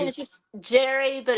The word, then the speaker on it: Jere: You pronounce it Jerry, not to be confused with Gary Brooks, who's not Right?